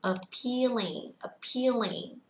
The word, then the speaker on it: appealing: Và từ tiếp theo của chúng ta là từ appealing, mang nghĩa là hấp dẫn và thu hút. Âm thứ hai sẽ nhận trọng âm nên các bạn sẽ kéo ra một chút xíu ạ.